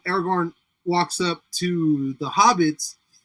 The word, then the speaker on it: Aragorn: time that scene where Aragon walks up to and I know my I've totally mispronounced it but uh Aragorn walks up to the